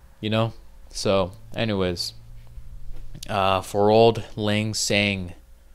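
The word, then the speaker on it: Auld Lang Syne: For old lang syne. For old lang syne. That's how it's said.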